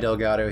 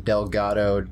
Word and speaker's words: Delgado: M E L I Delgato. N E M A I. Nei. Then Delgato. You just spell it how it sounds.